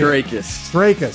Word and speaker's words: Strakis: Strakis. Yeah, there you go. See, I didn't mispronounce it this time because I asked.